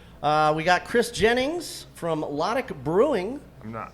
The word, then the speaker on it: Lotic: and then we'll just spell it out for the listeners. It's Lotic, correct?